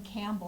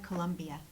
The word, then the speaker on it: Columbia: to meet David Patrick Columbia you call him Campbell and actually that's how I met the people at the party because I said your name wrong they're like Columbia Colombia because I want there's is a singer